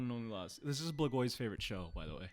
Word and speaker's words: Blagoy: Yeah, I was going to mispronounce his name. How you say his first name? Blagoy.